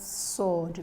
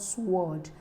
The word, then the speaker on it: sword: Please, the word is pronounced sword, not sword. The W is silent.